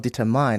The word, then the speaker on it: determine: Determine, not determine. I know there's mine in that word, but that mine is pronounced as min.